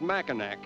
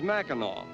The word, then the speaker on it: Mackinac: island we called it mackinac but we are informed that the correct pronunciation is mackinaw as it is the french derivation of the original indian name the indians who lived